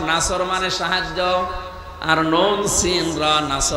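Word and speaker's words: نصر: এখানে সোয়াদ মুখ গোল করে উচ্চারণ করা লাগবে।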